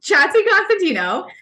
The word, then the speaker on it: Chatzikonstantinou: I am and I will pronounce my last name for you all because I get this question all the time so it's chatty Constantino and I am a